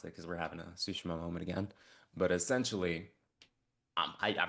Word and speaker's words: Tsushima: island is Tsushima. It's pronounced Tsushima.